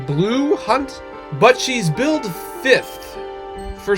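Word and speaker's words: Blu Hunt: But like the main character of this movie is uh Danny Moonar who is played by um I think it's pronounced Blue Hunt, but she's build fifth for some reason.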